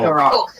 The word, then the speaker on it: Garrock: The human pronunciation is Garrick, orc pronunciation is Garrock. Okay. So, Garrock. Cool.